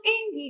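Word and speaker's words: 演技: Ada action engi ga umai haiyu. Action engi ga umai haiyu. Action ya. Engi. Ini dibacanya eng karena bertemu dengan kanji gi.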